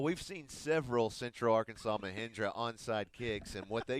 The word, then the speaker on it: Mahindra: oh you well we've seen several central arkansas mahindra onside kicks and what they can do for